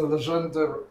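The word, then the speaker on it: Legendre: r e e the the general rule for someone who knows no French is that basically you have to add additional letters that you don't pronounce it for some reason so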